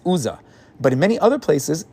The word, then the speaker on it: Uzzah: It's spelled with the Vav in one place, and that's why he's known as Uzzah.